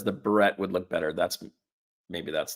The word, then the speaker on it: beret: Hampton Consultant says the beret would look better. Maybe that's the better term. The French beret. A beret? A beret. I guess they don't pronounce the last word, do they?